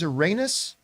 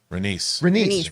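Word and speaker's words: Rhaenys: and by the way always mispronounces is Uranus renice renice I gotta remember that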